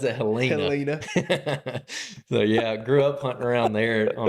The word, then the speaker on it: Helena: town called Helena everyone else in the country pronounces it Helena yeah but not in Alabama baby we pronounce it Helena so yeah I grew up hunting around there